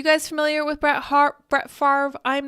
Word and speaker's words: Favre: Andy he says Brett Favre yeah how how do you pronounce it and he says dasovic is pretty good at farver noogans okay so apparently